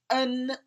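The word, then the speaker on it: 恩: It's pronounced en, and the upper portion means reason and the lower portion means heart.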